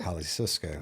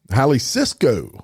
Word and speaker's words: Jalisco: defeating the caloa and jalas cartels Jalisco cartel Cisco how how do you say Hal Cisco there you go hi Cisco I that because they